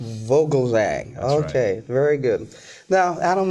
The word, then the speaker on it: Vogelzang: folks thank you richard my last name is vogelsang vogelzang okay very good now adam let's get right